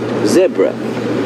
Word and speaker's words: zebra: Of course, when we watch much of our television is American, and when we hear Americans say zebra, we immediately say no, it's not zebra, it's zebra.